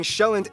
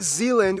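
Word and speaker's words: Sjælland: are inhabited the largest island being showand not Zealand which is not to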